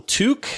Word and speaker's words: Tooke: Tuck, I'm going to call him Tuck, even though everybody calls him Tooke because it's spelled Tooke. But Robin Hood is Friar Tuck, so I think people are saying his name wrong.